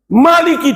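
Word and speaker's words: مٰلِكِ: Surat Fatihah Maliki dibaca panjang tanpa ditulis alifnya. Alifnya nggak ditulis, tapi bacanya panjang.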